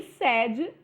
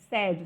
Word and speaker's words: sede: com se né e sede também se escreve com se né com sede só que na pronúncia de sede o e é fechado e na pronúncia de sede o e é aberto tá bom então quem